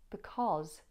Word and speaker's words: because: Did you hear the difference between how I pronounce cause when it's on its own as opposed to when it's in the word because? Cause, because, cause, because. In because, it's short, ah.